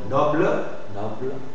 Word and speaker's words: noble: Aussi, on va lire la consonne E muette, on va la lire en position finale si elle est précédée de deux consonnes prononcées. C'est comme pour la transcription, tu dois mettre le E muet si elle est précédée de deux consonnes prononcées. Par exemple, noble, arbre, porte.